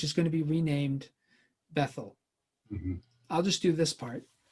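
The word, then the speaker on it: Bethel: but we usually say bethl but there's no th sound in Hebrew that's uh there's an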